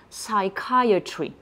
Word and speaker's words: psychiatry: sous l'angle prononciation et vous allez par exemple écrire S a I Trema K a I Trema e u t r I et comme ça quand je lit les lettres que je viens de vous énoncer on va bien dire psychiatry on note au passage